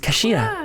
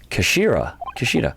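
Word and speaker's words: 頭: It's written as Henja, but it's pronounced as Kashira, I believe. Kashira.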